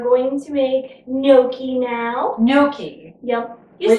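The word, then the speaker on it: gnocchi: to make noi now Noki yep you said it right that time you got to the G silent but just barely you no noi you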